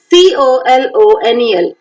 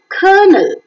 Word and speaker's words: colonel: p-e-a-r-l Pearl b-i-r-d bird t-u-r-n turn d-e-a-r-t-h does c-o-l-o-n-e-l kernel colonel that's right g-i-r-l girl c-h-u-r-c-h Church grm